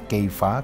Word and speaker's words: Kefa: Petrus punya nama Aramnya Keifa karena Aram bahasa sehari-hari. Nah, Keiva ini pengucapan Keifa kalau dihelenisasikan kayak Shimeon jadi eh Simon dalam Inggris ya kira-kira gitu. Nah, ini kalau dihelenisasikan jadi kevas.